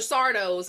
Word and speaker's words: Sardo: Sardo's fucking house of trinkets. Like, it's Sardo. No Mr. accent on the dough.